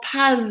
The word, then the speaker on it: pas: Notice how I have to pronounce the S on the end of pas, and it's because there's a vowel coming after it. Ils ne vont pas à la plage.